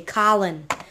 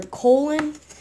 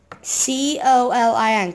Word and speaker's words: Colin: Colin, just say Colin. And just for a recap, do not pronounce it Colin or colon. It's C-O-L-I-N, Colin.